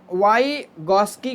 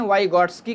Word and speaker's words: Vygotsky: आगे चलेंगे, अब हम वाइगॉस्की को देखेंगे। ठीक है, कहीं कहीं वाइगॉस्की कहते हैं, वाइगॉट्स्की, कहीं कहीं टी साइलेंट माना जाता है, कहीं कहीं पढ़ते हैं।